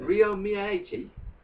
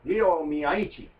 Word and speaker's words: Ryo Miyaichi: Ryo Miyaichi? No, Ryo Miyaichi.